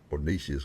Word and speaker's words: niches: I always told there's riches and niches, or niches, however you want to say it. I like it because it rhymes riches and niches, so I say niches.